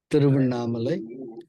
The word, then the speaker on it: Tiruvannamalai: Tiruvannamalai. It's spelled as TIRU as in Victor A NNAMALAI. Okay, through Mamale. Tiruvannamalai.